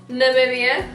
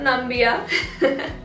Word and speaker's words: Namibia: our neighboring countries of Namibia not nambia puts wanna Zimbabwe Mozambique